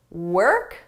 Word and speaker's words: work: Work walk her ignore the spelling. It's not an o sound. It's a herb or were work.